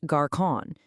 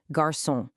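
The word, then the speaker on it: garçon: The solution, French adds this clever little tail, and the result is that this new letter forces a soft s sound, giving us the correct pronunciation, garson.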